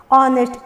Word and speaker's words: honest: ऑनेस्ट, H silent हो गया और ऑनेस्ट, जिसका अर्थ होता है ईमानदार।